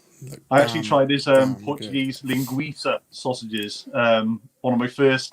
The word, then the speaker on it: linguiça: I actually tried his Portuguese linguiça sausages. One of my first Instagrams, I called them linguica, and I got panned. I got Portuguese friends on Facebook who was like, "It's linguiça, you dumbass."